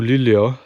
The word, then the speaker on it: Luleå: And honestly, I don't think I'm going to drive all the way up to Luleå today. That's the correct pronunciation I also just learned.